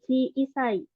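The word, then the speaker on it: 小さい: Selanjutnya ada kanji chi isai. Chi isai artinya kecil ya. Tadi kebalikannya dari oki. Ini chi isai. I-nya juga ini bacanya panjangnya cisai, cisai, kecil.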